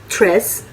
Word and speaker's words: treize: आप स्क्रीन पर देख सकते हैं इनकी स्पेलिंग ओन्स। 12 को कहते हैं दूस। 13 को कहते हैं ट्रेस।